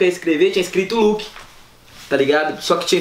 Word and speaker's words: Luuck: Quando pronuncia fica Luke do mesmo jeito.